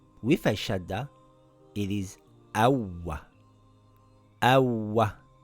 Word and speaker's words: أَوَّ: Ahha أَشَّThis reads Ashsha, Ashsha, Ashsha أَوَّThis reads Awwa, Awwa. If I take out the shadda it would read Awa. Awa. With a shadda it is Awwa, Awwa not Awa.